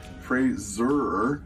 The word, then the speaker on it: Fraser: Hi, I'm Brendan Fraser. That's Fraser, sounds like razor, which has been mispronounced all my career.